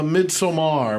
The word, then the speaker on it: Midsommar: the list Midsummer midar so uh mid somar which is actual name of the film but yes we're pronouncing like americant and we're saying Midsummer so um AR aer's